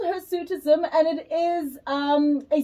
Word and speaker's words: hirsutism: It's called her sutism. Am I pronouncing that correctly in talk? That is it. It's called her suitism and it is um a stiff or dark